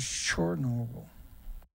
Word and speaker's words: Chernobyl: There's a huge industry of people who work, and when you call it in, this is how you pronounce it, in Ukraine, is Chernobyl.